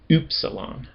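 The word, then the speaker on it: ὖ ψιλόν: Doesn't actually really sound like U. Oopsalon.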